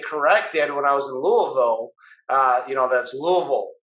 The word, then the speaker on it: Louisville: would always get corrected when i was in louisville uh you know that's louisville you know and uh south louisville south louisville it's louisville you know you know we're putting a little